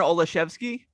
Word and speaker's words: Olszewski: How do you pronounce this name? Gunnar Olszewski.